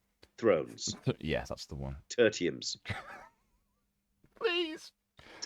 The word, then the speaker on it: Tertium: Tertiums. Please. That's how it's pronounced.